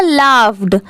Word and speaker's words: laughed: ये है अकबर, AK अक, और BAR बर, अकबर, ये है लाफ्ड, LAUGHED, इसकी प्रोनाउंसिएशन क्या है?